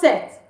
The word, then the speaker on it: cet: We use C-E-T, it's pronounced set.